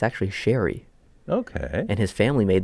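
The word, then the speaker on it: Zary: you hear the controversy not controversy but Connor shiri how we pronounce been pronouncing it forever Connor shiri oh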